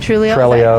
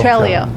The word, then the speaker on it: Trello: Yeah, I was going to say, what about Slack or Basecamp or Or is it Trulio? Trello. Trello.